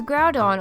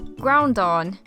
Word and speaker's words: Groudon: case let's begin the first Pokémon here is Groudon or as I like to call it when I was little ground on I saw that it was a ground type